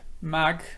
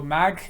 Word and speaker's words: ማግ: It's mag, it's a little bit stressed.